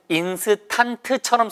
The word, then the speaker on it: instant: 그래서 발음이 인의 액센트가 있어요. 그러니까 2번부터 10번까지는 뒤 발음이 여기 써있기는 인스턴트처럼 써있지만 턴트가 아니라고요. 턴트예요. 턴트. 언트 발음이 나요.